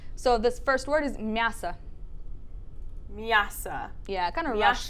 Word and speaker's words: мясо: why that O sometimes sounds like an A, even though when you look at it, it seems like it would be read as мясо. So don't worry about that for now. Just remember the pronunciation for this one, мясо.